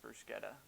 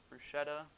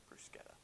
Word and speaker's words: bruschetta: are making our mexican bruschetta and yes it's pronounced bruce getta i thought it was bruschetta until i started making this video i decided to look it up it is in fact bruschetta last week i asked for lots of advice